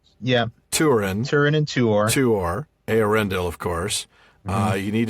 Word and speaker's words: Eärendil: I think when I first read the book, I was trying to stress the A, so it was Eärendil. Oh, yeah. Instead of Eärendil.